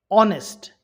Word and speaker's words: honest: change autumn I'm silent honest H silent through g h silent